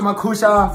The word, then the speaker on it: Makhusha: Oh, Musa Makusha from Africa.